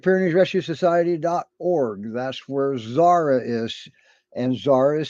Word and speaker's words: Xsara: That's where Zara is. And Zara is spelled XSARA.